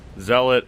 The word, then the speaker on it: zealot: it's just your basic z-lot see a lot dealer suppose zealot is the proper way to say it but i'm not a